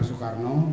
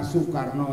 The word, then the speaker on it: Soekarno: saya menulis sedang Buleleng ia telah juga penggemar Soekarno dan rumahnya diwarnai oleh Syaiful Syaiful Soekarno singa